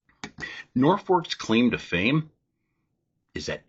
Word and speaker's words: Norfolk: going to shorten it to either Nord Fork or Norfolk. But Federal Postal Authority thought it was misspelled and changed it to Norfolk. But the people still call it Norfolk. Norfolk's claim to fame is